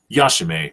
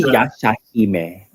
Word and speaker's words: Yashahime: to call it called yashim Princess half demon it's actually yashim my uh my apologies I mispronounced that but okay yeah but yeah Anton's right that's exactly how it's pronounced but um then again